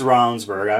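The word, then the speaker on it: Ravnsborg: I think in the Saylor Ravage race, it's pronounced Ravensburg.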